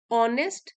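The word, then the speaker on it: honest: ऑनेस्ट and skilled cobbler as silent है यहां पे ऑनेस्ट बोलेंगे और यह देखिए एच से तो शुरू हो रहा है वाला वर्ड लेकिन हमारा साउंड वावल साउंड है ऑ ऑनेस्ट इसलिए यहां पे एच को प्रोनाउंस नहीं करते और यहां पे एन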